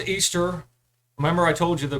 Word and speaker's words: Ishtar: But at its roots, Easter, which is how you pronounce Ishtar, is all about celebrating fertility and sex.